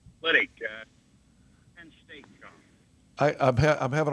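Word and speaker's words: Liddick: Lydick. Weddington? Lydick. Spell it.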